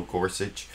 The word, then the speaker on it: Gorsuch: he called him gorsi most people call him Neil Gorsuch but I think his actual name is pronounced Neil gorsi that maybe that will